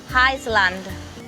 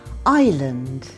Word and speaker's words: island: Island. Island. There are two things to remember with this word. The first vowel sound isn't E, it's I. And the other thing is the S. It's a silent letter.